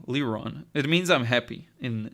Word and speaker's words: Liron: of a French feel it's just a Hebrew name so LeRon it means I'm happy